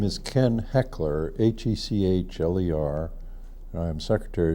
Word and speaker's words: Hechler: I'd like you to say your name and spell it and your current position my name is Ken heckler HEC HL er I'm Secretary of State have